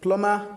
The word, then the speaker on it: plumber: So like plumber and bummer though there are some dictionaries especially phones that they pronounce those B in these words but in standard dictionaries they are silent.